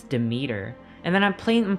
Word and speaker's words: Demeter: that for me yo everyone was telling me that i was pronouncing demeter wrong the greek god demeter they're like you're saying it wrong it's demeter and then i'm playing